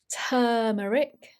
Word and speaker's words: turmeric: Turmeric. So even though this is a U in British English, we pronounce it as an turmeric.